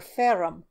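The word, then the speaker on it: ferrum: spot with a finger f e that's short for ferum iron tammy pronounced the latin word with a strong burr of the r's then you must know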